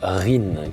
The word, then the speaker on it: REEN: Alors, nous, on prononce REN, mais on peut dire RIN, chacun prononce comme il le souhaite. Cette loi, elle est intéressante.